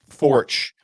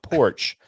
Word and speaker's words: Forch: It's Forch. It's LOL, pronounced like porch, but with a capital F, you magnificent bastards. Wink. So, yeah. Cheers. Now we know. Old Troy Porch. No, Forch.